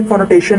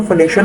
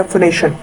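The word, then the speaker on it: phonation: यूज कर दी थी, फोनेटेशन नहीं होता, फोनेशन होता है, सो इसको करेक्ट कर लीजिएगा, फोनेशन, राइट।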